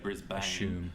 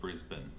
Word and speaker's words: Brisbane: is brisbane i guess from the way it's spelled it's easy to assume that you say brisbane but we actually call it brisbane up a little further